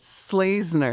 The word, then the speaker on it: Schlesener: Slazner. Slazner. There it is. Slazner.